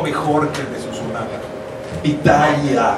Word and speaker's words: Pitaya: Pitaya, hay que hacer mucho cuidado con la última sílaba para respetar al personaje.